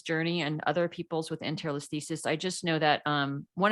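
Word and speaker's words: Anterolisthesis: Enterolisthesis.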